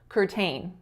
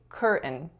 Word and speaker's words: curtain: was when I said curtayne curtayne so we don't actually say curtayne we stress the first syllable and say curtain curtain and the last word